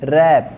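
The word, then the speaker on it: wrap: Are silent है ना, यहाँ पे रैप, डब्ल्यू साइलेंट है।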